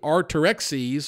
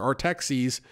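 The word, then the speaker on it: Artaxerxes: of of the king are terexes or our taxis my pronunciation isn't great but you could look it up looks like art ax or ease okay he's the King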